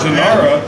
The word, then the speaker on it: Jhoira: Jhoira. Yeah, there's no one. Jhoira? The J is silent. And it's silent.